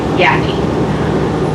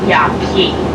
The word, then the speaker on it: Yaqui: first viewpoint this is yeah t point we spell it why Aki yaki it's named after a Native American tribe found south of Tucson into Mexico their desert culture they spell their name y a qu by yaki and then we will be having the shuttle